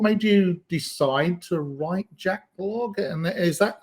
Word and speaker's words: jachLog: you decide to write Jack log and is that am I pronouncing it right jack log yeah it's it's it's what I think is is the best pronunciation in English right okay good yeah